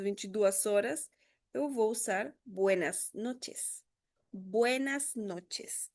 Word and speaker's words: buenas noches: Eu acho que esse o comprimento mais difícil de pronunciar pros brasileiros, tá? Buenas noites. Tem variações, sim, tem lugares de Centroamérica que eles vão falar um pouquinho mais puxado. Buenas noches.